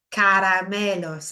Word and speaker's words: caramelos: Los caramelos, it's that C-A sound, isn't it? The hard C.